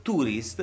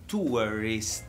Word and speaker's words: tourist: L'italiano invece, che ha sempre letto in inglese tourist e ha sempre pronunciato tourist, darà per scontato che il suono della parola inglese sia tourist. Provate a pronunciarlo con me, tourist. Vedete quanto è complesso e diverso dalla parola tourist a cui siamo stati abituati a scuola. Sono suoni completamente diversi.